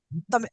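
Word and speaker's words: தமிழ்: अण से मिश्रित ल का उच्चारण किया जाता है। हम हम्म, केवल तमिल ना करके उसमें हल्का सा अण, तमिल, तमिल, आप समझ रहे हैं ना, तमिल।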